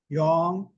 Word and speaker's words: Yong: Young. Will you spell that, please?